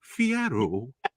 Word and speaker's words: Fierro: Fierro.